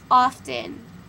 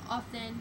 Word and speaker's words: often: cracker jack kayla's okay often often often i don't say the t often questionable dog shut